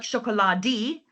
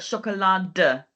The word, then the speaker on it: Schokolade: So don't forget to pronounce the E slightly, not like Schokolade, but Schokolade.